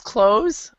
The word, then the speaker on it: clothes: door you hide the clothes it's the same pronunciation in american english but in british english then you have the th sound for this word close